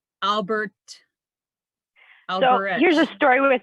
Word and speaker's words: Albrecht: born in Germany, and I pronounce it Albrecht. But every time I go to Germany, Albrecht, and I pronounce the T at the end.